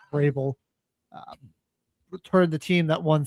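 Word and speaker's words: Vrabel: Uh Mike Rabble, as Tiffany Hadtish called him, his name is actually pronounced Rael.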